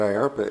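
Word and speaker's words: IARPA: you're probably wondering what I ARPA is rhymes with DARPA sounds like DARPA in fact were modeled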